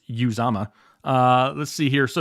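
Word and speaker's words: Uzomah: maybe not have the touchdown upside because cj uzama is the correct way to say it i watched a video on how to pronounce it correctly that he put out uh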